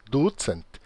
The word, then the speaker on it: ducent: Tridcent, kvartcent, vincent, Veja que o acento em Esperanto sempre é na penúltima sílaba. E aqui temos duas sílabas, é ducent, tricent, kvartcent, quincent.